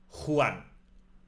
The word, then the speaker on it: Juan: The letter J always has the scraping sound from the throat. Think of it as a very strong H as in jalapeno. Let's try. Juan.